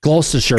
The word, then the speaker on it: Gloucestershire: Gloucestershire, thank you.